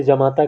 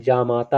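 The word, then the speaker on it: जामाता: अशुद्ध माना जाता है जमाता बहुत लोग उच्चारण में जमाता कहते हैं लेकिन जमाता नहीं जमाता होता है है ना ज पर भी मात्रा रहेगी बड़ा आ की है ना यह वाला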